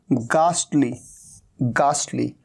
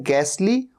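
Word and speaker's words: ghastly: आ रहा है तो एक तरीका तो इसे प्रोनाउंस करने का यह होता है और दूसरा होता है गाली गाली तो एक तरीका है गैसली और एक है गाली और यहां पर कास्ट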